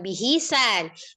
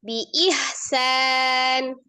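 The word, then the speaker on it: بإحسان: bimaufin au tasrihum bihisan ih bukan bihisan biihsan ih biihsan ihnya di mana bi bukan ha yang kasrah kan hamzah ba kasrah hamzah kasrah alif ya kan kem baru ha sukun biih bukan bihi biih biih biihsan h biihsannya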